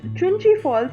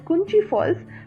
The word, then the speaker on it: Chunchi Falls: In this vlog, I have pronounced Chunchi Falls as Kunchi Falls, so please forgive me for that.